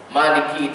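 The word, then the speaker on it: مَالِكِ: Maliki ni kalau siapa yang betul-betul perasan, Maliki itu tidak ada alif itu. Kita baca panjang dikarenakan adanya mat yang tegak tu.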